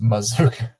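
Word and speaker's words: Mazzccua: pronounce it no way C UA and it's pronounced Mazuka offerson say mazooka and it's spelled Maz Kua and I was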